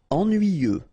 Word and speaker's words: ennuyeux: Ennuyeux. Okay, final X not pronounced. And then ennuyeux.